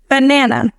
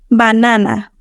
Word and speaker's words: banana: Banana. Banana. The schwa is present in that last A. Now, pronounce it in Spanish, making sure you articulate it fully. Banana.